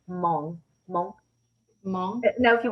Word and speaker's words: Hmong: So kind of a silent H.